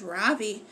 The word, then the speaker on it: Ravi: beam has been calling him baby but when he introduced himself earlier I'm pretty sure he said his name was Ravi with the accent on the second syllable as I reached down